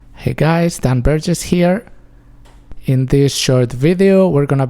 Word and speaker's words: hay: to be i and it is pronounced i not hay or anything like that right the h is silent we just ignore it and a is always pronounced a in spanish and y when it's at the end of a word is pronounced e so everything together i